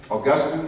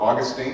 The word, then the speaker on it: Augustine: Has anybody ever heard of a guy named St. Augustine, or Augustine, depending on how you like to say his name?